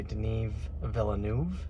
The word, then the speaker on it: Denis Villeneuve: Well, we just watched Dune, directed by Denis Villeneuve. That's how you pronounce it.